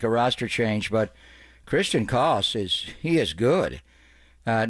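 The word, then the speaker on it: Koss: And that is the way to pronounce his name. It's Christian CS, not CS.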